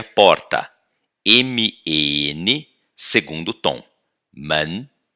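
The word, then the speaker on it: 门: Man. E como a gente pronuncia o caractere de plural de pessoa?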